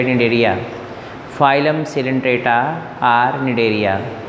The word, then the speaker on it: Cnidaria: निडेरिया क्यों इसका नाम पड़ा हुआ है? सी साइलेंट है, निडेरिया पढ़ते हैं।